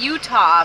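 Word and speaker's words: Eutaw: nathan gilbert the postmaster it's utah but it's spelled e-u-t-a-w utah utah among early sellers were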